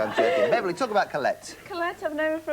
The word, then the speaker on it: Colette: And we thought there's 2 syllables. Colette.